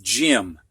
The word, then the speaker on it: gym: think of too many why sounds like a short I like in gym this is short for gymnasium and in this word the G actually makes the J sound and we'll find out